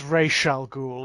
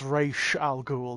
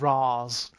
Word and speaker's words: Ra's al Ghul: So many wrong pronunciations. It's not Falcone, it's Falcone. It's Don Falcone, you know. Yeah. It's Ra's al Ghul. It's Ra's al Ghul, not Raz.